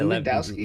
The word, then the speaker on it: Lewandowski: Yeah, Lewandowski.